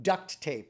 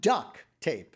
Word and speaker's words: duct tape: I like consider them duct tape. One silver, one gray, or what's the other color they'll use with duct tape. And notice I'm saying it right. Yes. Right? It's not duck tape.